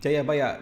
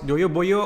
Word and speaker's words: Jayabaya: and java's prophetic king jayabaya this is the joy boy and this is jayabaya in Javanese pronounce Jayabaya collapse naturally towards Joyo Boyo or even Joyo Boy which is near Joy Boy Then he is historically